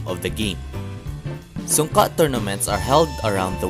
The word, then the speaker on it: Sunka: pronounced Sunka.